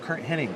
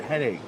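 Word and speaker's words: Hennig: name is spelled not it's not Kurt Henning it's Kurt henig I go what he goes H E N N I G I go no dude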